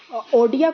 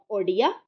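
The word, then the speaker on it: Odia: में ओके और इसको इसमें ओडिया को सब्सीट्यूट किया गया था फॉर ओरिया ओके और इसी प्रकार से एथ स्केड्यूल में जो ओरिया लैंग्वेज है उसको ओडिया प्रोनाउंस किया गया बाय व्हिच ऑफ द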